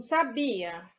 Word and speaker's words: sabia: proparoxítona é acentuada o que o sabia o be é a sílaba mais forte a sílaba tônica então sa bi a o ar é a última o be é a penúltima então sabia é uma paroxítona já tá ou sábia